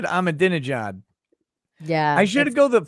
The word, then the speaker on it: Ahmadinejad: But the interesting thing about Persian, though, is that everything is pronounced exactly how it's written. So you can be like Ahmadinejad. Like that's literally like how it's written. So that's how Ahmadinejad.